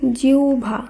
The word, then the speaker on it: জিহ্বা: কারণ এখানে আমাদের মনে রাখতে হবে হয় বয়ের আগে যদি হ্রস্ব ইকার থাকে তখন হয় বয়ের উচ্চারণ আবার হ্রস্ব ভ এইভাবে করতে হবে।